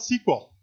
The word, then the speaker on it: SQL: around for a bit originally was called sequel structured English query language thus the idiotic pronunciation that people call it sequel because it started out as being called sequel however IBM was taking